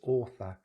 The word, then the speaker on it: author: And the odd one out here is author, author, author.